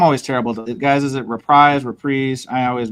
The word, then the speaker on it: Reprise: Guys, is it reprise? I always mispronounce it.